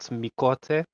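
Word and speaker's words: Miqo'te: The Q is silent, but it's spelled Miote.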